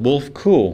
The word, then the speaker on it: Wulfekuhl: well that's harbor of hope mission okay wolf kyoool wolf cool there we go I want to I want to change the spelling or the pronunciation of your last name thanks so much